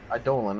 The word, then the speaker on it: Eidolon: Is that how you pronounce it? Eidolon. Eidolon. Okay. Yes.